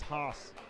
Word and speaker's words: Haas: And you know, to be fair, there are 2 A's in his name. The fact that there's 2 A's kind of indicates that it should be pronounced a little longer. Thomas Haas.